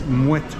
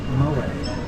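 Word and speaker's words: Moët: Like, you know, it's Mouette and Chandon, not Moet.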